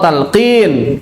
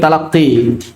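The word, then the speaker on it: talqin: Talkin. Oh, talkin. Kirain talaqin.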